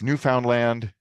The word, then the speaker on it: Newfoundland: Yes, new found land rhymes with understand.